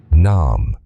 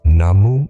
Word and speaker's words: Namu: Though it's Namu should be pronounced Nam.